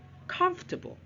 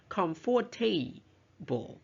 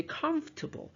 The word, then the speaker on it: comfortable: photograph okay and then we have another word comfortable comfortable so the second and third syllables areah which means we don't usually pronounce them or they are silent we don't say comforable right okay we say comfortable so Forte is clueless right clueless not clueless